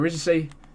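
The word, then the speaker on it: Risacher: Reyshau say?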